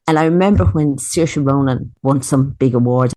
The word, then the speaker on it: Saoirse: If you can say Sear and you can say Sha, you can say Saoirse.